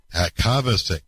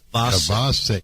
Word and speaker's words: Kovacic: Kavasic. Kavas. Kabasik. Kovas. It's not like Kovasier.